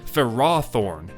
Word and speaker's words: Ferrothorn: that's for sure also why do official sources including the anime call it Ferrothorn when Ferris would imply its name should emphasize the first syllable Ferrothorn I love how